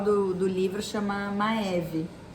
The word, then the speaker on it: Maeve: do livro chama uma maeve e na verdade assim é mave né mas como eh a gente enfim a gente sempre pronunciou em português eu me acostumei